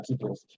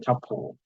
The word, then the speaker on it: tuple: There are list and there are tuples. So some people call it tuple, the second part, but I pronounce it as a tuple.